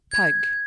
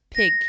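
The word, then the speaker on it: pyg: l'époque on le prononce Pag et puis la langue évolue et la prononciation de ce mot avec au 18e siècle l'argile se prononce pig comme le cochon P i g ce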